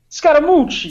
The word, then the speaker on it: Scaramucci: Can you help me pronounce that? Because Scaramucci.